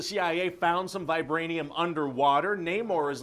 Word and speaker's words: Namor: Neymar Namor no more how do you pronounce that you know everybody in the movie is going to say it differently I guess there's no wrong way to say it no I'm gonna pronounce it yeah more okay no maybe there